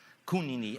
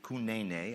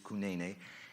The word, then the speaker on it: Kunene: Kunini, actually Kunene. I've learned to pronounce it 3 different ways. It is Kunene.